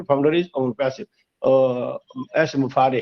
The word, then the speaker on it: Mufareh: My name is एस मुफारे। हम लोग मुफरा बोलते हैं, तो मुफारा बोलते हैं, कुछ बोलते हैं, but actual name is एस मुफारे। हाँ, लास्ट में रे निकलना चाहिए हमारे।